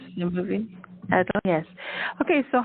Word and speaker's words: Adalynn: Is that how you Adalynn, pronounce the movie? Adalynn, yes.